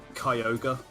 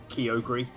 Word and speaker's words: Kyogre: an official pronunciation for a pokemon so like kyogre like the amount of the amount of people i know that called it kyogri i used to call it something really stupid